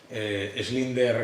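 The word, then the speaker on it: Schindler: vián a los linderos no se se pronuncia así schlinder galego no pues todos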